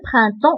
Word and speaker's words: printemps: هنا ان تنقول ان بران و ام ديجا قلنا في الدروس اللي فاتت انك تقرا اون. دونك برانتون بالنسبه لبي و اس راه ما كيتنطقوش غير كيتكتبوا.